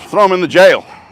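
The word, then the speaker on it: gaol: do you spell jail j-a-i-l no g-a-o-l is the British pronounce spelling of jail and it's a it's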